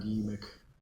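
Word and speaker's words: Yeemik: I need to add Ymik. Ymik. That's how it's pronounced.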